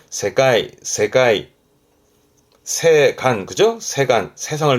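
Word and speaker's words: 世界: 발음은 세가이.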